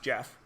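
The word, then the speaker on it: Geoff: that kid G off which is of course pronounced Jeff Jeff has 3 out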